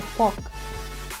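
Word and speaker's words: fork: ये कांटा है और इसको इंग्लिश में बोला जाता है फॉक। फॉक। आर यहाँ पर साइलेंट होता है, इसको बोलते हैं फॉक।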